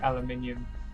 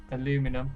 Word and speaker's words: aluminium: the alarm clock via aluminium or aluminum as the Americans say at glass spring or